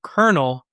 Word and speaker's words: colonel: One of the words I always struggle with as a kid was the word kernel because it is spelled like colal.